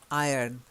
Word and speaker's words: iron: roll the hours anymore sometimes in our is silent in this case it's a silent are iron like a lion in science April I am I like a lion in Zion they all rhyme good okay now the